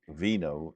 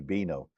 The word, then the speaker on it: vino: yeah albino don't forget the v in Spanish is pronounced B so Vino is actually bino so if you remember